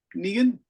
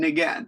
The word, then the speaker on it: Ngan: Negan? N-G-A-N. Ngan. Ngan? How do you pronounce that in Yeah. Vietnamese? That's my name. You should say Ngan.